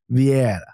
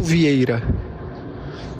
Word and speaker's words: Vieira: I'm going to try to abstain myself here because I believe his name is Rodolfo Vieira.